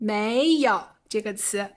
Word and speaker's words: 没有: 好下期我们讲“没有”这个词 Alright, in the next session, we'll talk about the word "没有" (pronounced as "méi yǒu") 拜拜